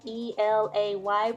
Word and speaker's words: Elay: Hey guys, it's me, Elay, Elay, pronounced like LA, like the city.